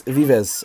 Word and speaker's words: Vives: some um messages about how to pronounce Vives it's Vives uh yeah I'm really